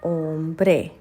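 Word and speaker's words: hombre: का मतलब होता है एच हमारा साइलेंट होता है तो यह आता है ओम ब्रे ओम ब्रे मतलब मैन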